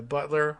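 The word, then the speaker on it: Beutler: it was cheney kenzinger butler spelled boitler but i think she goes with the anglicized uh butler right uh next up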